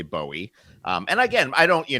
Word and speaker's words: Bowie: And then the Bowie, uh, that is the the Bowie is the proper Scottish pronunciation. I get a lot of flack for it, but I swear to God, uh, it it's Bowie, and, um, and I'm sticking to it.